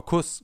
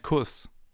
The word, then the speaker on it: Kuss: Because in front of a double S, the vowel is always pronounced short, as in Fluss or Kuss, for example. If we would take a sharp S here instead, it would be Fluss or Kuss. But it's Fluss and Kuss.